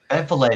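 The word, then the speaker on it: Vliet: Valet. That's my prefer like filet. Like fish fillet. That's what I've heard.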